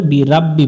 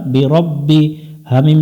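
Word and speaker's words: بِرَبِّهِمْ: বা জের বি রব্বি এখানে অনেকজন ভুল করে বি রাব্বি পড়ে বি রাব্বি পড়বো না আমরা বিরব্বি হা মিম জের হিম বি রব্বিহিম ওয়ালিল্লাজিনা কাফারু বি রব্বিহিম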